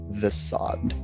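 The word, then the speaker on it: Vessaad: for those of you unaware my name is the sod can you spell that real quick sorry v e s s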